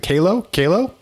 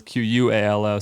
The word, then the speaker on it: Kalo: I mean, so I remember the ad said, it's Kalo, not Qualo, but it's our fault for picking a confusing name.